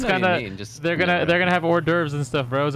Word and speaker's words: hors d'oeuvres: You're pronouncing it wrong. It's hors d'oeuvres.